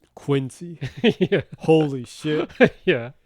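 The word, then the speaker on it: 滅却師: It's written Mekyakushi and it's pronounced Quincy.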